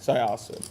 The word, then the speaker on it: Syosset: Syosset.